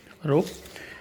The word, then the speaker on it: rho: इस कांस्टेंट को बोलते हैं, इसको रो से डिनोट करते हैं, रो, RHO लिखते हैं, प्रोनाउंस ऐसे करते हैं RHO, रो।